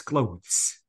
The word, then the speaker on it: clothes: no in general please it's not clothes it's clothes okay guys reach so please